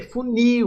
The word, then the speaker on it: funil: Letra C, funil, ou nil, oxítona, né?